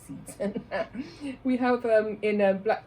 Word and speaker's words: seitan: It sounds like that it's pronounced Satan, but I don't call it that, so I say Seitan.